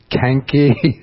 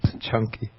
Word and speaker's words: Canki: You think it might be Canki. But the C in Pali is always pronounced like CH, like Ch in church.